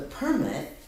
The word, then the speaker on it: permit: in between, but the permit will permit you to build something. Will Permit somebody to do something. They sound the same way. It's just one is strong. It's where the accent falls.